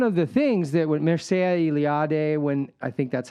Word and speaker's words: Mircea Eliade: But it's one of the things that when Mircea Eliade, when I think that's how you pronounce his name, but dang it, I was about to say finally I know how to pronounce his name.